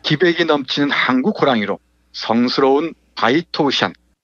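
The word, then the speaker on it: 白头山: 기백이 넘치는 한국 호랑이로 성스러운 바이토우샨, 이 백두산의 중국식 발음입니다. 바이토우샨 꼭대기, 위대한 용의 정령이 사는 동굴에서 숨을 거두었다.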